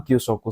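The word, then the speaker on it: 給食: Hai, jadi yang benar nomor 4. Kyusoku desu.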